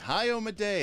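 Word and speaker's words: Iomedae: um uh ioma day ioma day apparently is how you actually pronounce that so you know we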